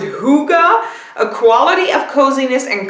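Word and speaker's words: hygge: way it says well I thought it said Higgy but it says over here it's a mountain and you pronounce it hookah a quality of coziness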